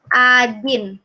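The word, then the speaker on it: один: ini ya satu bacanya Ajin Hai doa Hai Ajin yo yo ada pengecualian ikan takkan walaupun tulisannya O itu dibacanya a Hai Ajin Ajin Ajin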